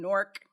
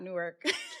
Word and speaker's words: Newark: we have one on Nork not Newark yes see I can't